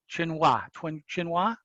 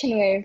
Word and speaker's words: Chinwei: They're part of Professor Hicks' practicum, and their leader, and excuse me if I mispronounce the name, it's again Chinhua, CEO. It's Chinwei, but thank Thank you.